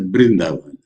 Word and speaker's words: Vrindavan: I accomplish here also vrindavan some people pronounce it as brindavan no one line one